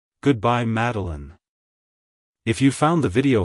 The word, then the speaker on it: Madilyn: personality it's pronounced as meline meline meline to pronounce it correctly emphasize the first syllable mad and then pronounce the rest of the name as Alin like Hello meline Goodbye meline if you found the